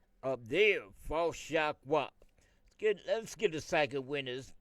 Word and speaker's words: Yahweh: But he said the only name that he going to respond to is the four letters, which we pronounce Yahweh.